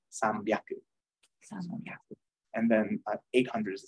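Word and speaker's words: 三百: 200 ni hyaku, 300 sambyaku, the H turns into a B for the ease of pronunciation, basically. If you try to say san hyaku, it's kind of like 2 exhales in a row.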